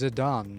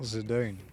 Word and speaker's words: Zidane: It's an Okinawan dialect for some just like it's Zidan, not Zidane.